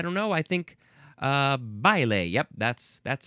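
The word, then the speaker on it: baile: Next, we have I believe this will be pronounced ble.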